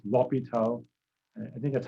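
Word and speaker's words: L'Hôpital: limits again something called lopital's room it says los patel's route it's actually easy to pronounce if you leave off the s that's the way it is in french i guess l'hopital and i think that's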